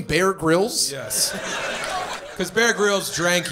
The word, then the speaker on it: Bear Grylls: sorry was that supposed to be the name Bear Grylls yes because Bear Grylls drank urine on his show that's that's the humorous intent of Mike over there well he also kind of pronounced it Barry Carl's yeah between the number one piss pick in